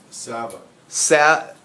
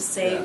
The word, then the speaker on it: salve: The L silent. Just think of saved. Yeah. Silent Sav. L, that's not Sav. A thing. There's no such thing in the English language. It's spelled S-A-L-V-E.